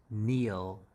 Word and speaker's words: kneel: Whenever you see K and N together, K is always silenced. So K is silenced, as in knife or night. And you always have to remember this one, kneel.